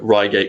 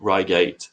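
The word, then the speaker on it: Reigate: but if you if you Google um uh Ryate crop circle 2016, you'll you'll see what I'm talking about. How do we spell that? Oh, um R E I G A T Ryate.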